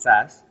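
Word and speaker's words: SaaS: three main cloud segments software as a service pronounced sas platform as a service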